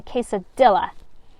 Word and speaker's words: quesadilla: The chinchilla eats a quesadilla. Janice laughs, her shoulders shaking. You so don't pronounce the L's in quesadilla.